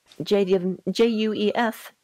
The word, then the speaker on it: Juef: It looks like we have an answer to how to pronounce J-U-E-F. It's Juef. I'm glad to finally know how to say that.